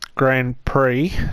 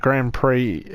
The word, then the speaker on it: Grand Prix: Like I said in the previous videos, this Grand Prix, I may have been pronouncing it wrong as pricks before. The Grand Prix has started.